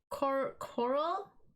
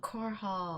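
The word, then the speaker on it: Korhal: um okay wait so is that how you pronounce coral starcraft it's a planet in starcraft oh core hall or yeah it's a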